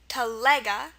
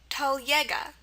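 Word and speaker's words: телега: Okay, so there's two pronunciations. We have telega, the stress is on the lega part, telega, or teljega.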